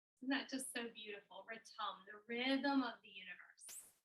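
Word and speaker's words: ritam: that just so beautiful ratom the rhythm of the universe i like to think of it being imperfect harmony return is r-i-t-a-m but it's pronounced like there's a u so our mantra is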